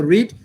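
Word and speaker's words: read: যারা মোবাইল, আচ্ছা এই ধরনের অনেকে, হ্যাঁ the book is being রেড, রেড উচ্চারণ মনে রাখবো, রিড রেড রেড, রিড রেড রেড, উচ্চারণটা এরকম প্র্যাকটিস করুন বেশি বেশি।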